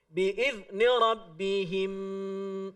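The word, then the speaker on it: بإذن ربهم: Dibacanya dengan cara memasukkannya seolah-olah dua huruf mim itu jadi satu dan ya diidghamkan dengan selama 3 ketukan. Biizni rabbihim.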